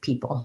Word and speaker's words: people: not associating it with people how about people people um just has the e vowel first syllable stress and then pull um has a p sound and then the syllabic l so i do have